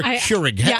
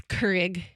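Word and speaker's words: Keurig: How do you say? Is it Kurrig or Kurig? I looked it up. It's Kurrig. Kurrig.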